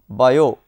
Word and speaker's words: Biot: Shortly after Oersted's discovery, Jean-Baptiste Biot, the T here is silent, and Felix Savart performed quantitative experiments to get the expression for the magnetic field produced by current elements. From their experimental results, Biot and Sawat arrived at